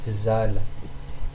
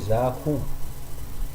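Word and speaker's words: zaho: malgache si vous dites zahu. Donc, le mieux c'est de dire za sans prononcer la suite.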